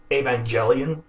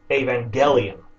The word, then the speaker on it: Evangelion: with a soft G there are two ways pronounce g soft G as in uh gem like jelly Evangelion that's not right and then there's the hard G evangelium which is correct now the thing is